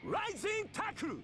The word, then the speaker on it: Rising Tackle: He's actually trying to say rising tackle. But in Japanese, we don't put L sound at the end of the vocabulary. We have to say rising taku.